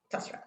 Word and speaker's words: Postrel: Did I pronounce that right? Yep. Postrel.